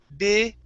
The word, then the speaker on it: big: exact position right but when we pronounce the G it's a voiced sound So you have to use your vocal cords That's where you feel the vibration in your throat So it's big g big Okay Big Big Uh-huh